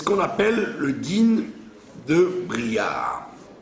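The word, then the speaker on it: בריה: C'est ce qu'on appelle le din de Bria. Beria. Bria, ça veut dire une bestiole. Le din de la bestiole. D'accord? Ouais, ça s'écrit Bet Resh Yud Hei.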